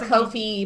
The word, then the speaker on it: Ko-fi: also rain for our kofi i refuse to call it kofi by the way it's ko fi yeah you know yeah so in my mind it's like lo-fi ko-fi so yeah i will